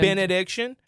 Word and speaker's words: Benaddiction: tour and benediction or as Elliot calls it benedictions which is weird because you got add put the S on there man because you gotten addictions to those bands my my all-time favorite benediction mispronunciations are the s that people love to add onto the name I also really enjoy